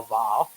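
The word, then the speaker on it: ו: the manuscript are a vav. So a one letter, the sort of there, it's W, it's pronounced W-O-W, but we pronounce it va.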